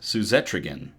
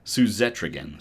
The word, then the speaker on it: Suzetrigine: Suzetrigine. Man, it sounds like Etrigan from the DC universe. Suzetrigine.